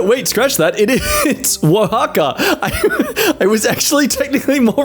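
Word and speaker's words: Oaxaca: village of San Augustine etla oh oh Mexico oaka for anyone who actually wants to know how to pronounce these things no wait scratch that it is Waka I was actually technically more right the first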